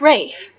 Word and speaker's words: Ralph: It's spelt Ralph, but sometimes that's pronounced Rafe. I hope it's not.